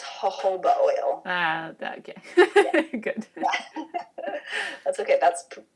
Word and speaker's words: jojoba: It's pronounced jojoba oil.